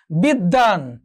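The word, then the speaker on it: বিদ্বান: কি হচ্ছে, মূল বর্ণের এখানে কি হচ্ছে, দ্বিত্ব উচ্চারণ হচ্ছে। বিদ্যান, বিদ্যান, একটু খেয়াল করো দ্বিত্ব উচ্চারণ হচ্ছে।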